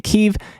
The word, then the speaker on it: Kyiv: the capital here in Kyiv. And it's not Kiev, it's Kyiv. A lot of people have been saying Kiev, and it's not Kiev, it's Kyiv. That's how they say it there.